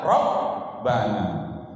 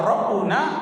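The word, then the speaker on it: ربنا: Kalau kita pakai ya, doanya harus ya Rabbana, ya Rabbana. Tidak boleh bacanya ya Rabbuna atau ya Rabbina, tidak boleh. Ya Rabbana, fathah baris di atas sesudah dari ya nida, adanya ya.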